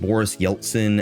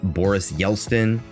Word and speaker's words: Yeltsin: This really just makes me feel better about the fact that on my last video, I mispronounced Boris Yeltsin as Boris Yeltsin.